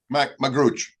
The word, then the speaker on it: Magrutsche: I'm not really sure how to pronounce his name, but we're gonna get that in right away. It's Michaell. Magrutsche. Michaell Magrutsche.